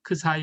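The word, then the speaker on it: ξ: 그 사이 라고 주겠습니다 그리스 문자로 에 그 사이 그리스 문자 열네 번째 문제입니다 그 사이 라고 읽으시면 되구요 4 자금이 높이를 크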